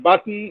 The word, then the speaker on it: button: The pronunciation of button is button, not button.